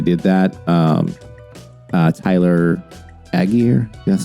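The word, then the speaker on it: Allgeier: I'm glad they did that um uh Tyler aguir that's how you pronounce his name ran really well 17 for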